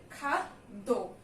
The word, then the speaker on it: খাদ্য: প্রথমেই দেয়া আছে খাদ্য, তো এটাকে আমরা কিভাবে উচ্চারণ করি খাদ্য, দুটো দ আসে তাই না? প্রথমে আসে খাত, তারপরে আসে দো। তুমি খাত পর্যন্ত আগে একটা উচ্চারণ করো, তারপরে দো উচ্চারণ করো, তাহলে কি খাদ্য।